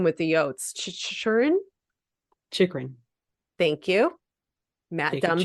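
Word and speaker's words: Chychrun: Chikrin. Thank you. Matt Jacob Dumba. Chikrin.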